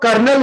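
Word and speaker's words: colonel: ये लोग कर्नल इसको बोलते हैं, इसको कर्नल होता है, कर्नल, कर्नल, एल साइलेंट होता है।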